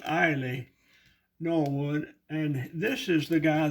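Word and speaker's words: Eille Norwood: of the early homes actors named ailey norwood e-i-l-l-e pronounced ailey norwood and this is the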